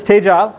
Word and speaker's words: Tegile: as I said we are U we are pronounced as stage Al um and our focus is essentially to help